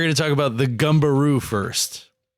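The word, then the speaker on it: Gumberoo: Uh, we are going to talk about the gumbaroo first. Gumbaroo. The gumbaroo. Gu M like gum. Sounds like a kangaroo that goes like boing. Gu m b e r o.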